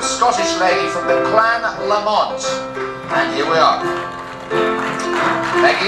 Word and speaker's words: Lamont: It's pronounced Lamont.